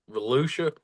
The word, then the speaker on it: Volusia: That's at New Smyrna and big sexy Brandon Overton just won over at Volusia in the heat race. Um, they got Is some that good how that's races going. pronounced? What's that? Volusia?